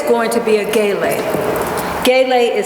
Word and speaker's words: gele: But today it's going to be a gele. Gele is spelled G-E-L-E.